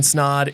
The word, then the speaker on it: Snaadt: guys my name is Ryan snod it rhymes of and welcome to the